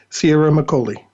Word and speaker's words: Ciaramicoli: get his name right dr sierra mccully oh that was perfect alex thank you not many people not many people pronounce my last name correctly wow i i got